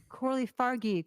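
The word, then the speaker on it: Coralie Fargeat: yeah that was annoying Corley fargi I'm like wait a minute am I losing my mind have I been say it wrong all long everything I've ever heard is French right so um that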